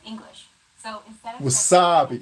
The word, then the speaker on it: wasabi: Wasabi. This is why I sucked in school. Chances are your pronunciation was pretty spot on. The W, S, and B sounds are practically identical to English.